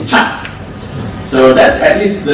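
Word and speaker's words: kyat: But don't forget, when you are in Myanmar, the word K is pronounced C. So it's not Kya, it's Chat.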